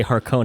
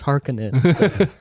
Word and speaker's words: Harkonnen: even with this movie when they say her conan and i'm like that's not it it's hearkening i don't think they've